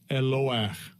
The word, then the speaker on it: Eloah: So it's Elohim, Elohim, and it is pronounced this way. Strong's H 430, entry 1. Eloach.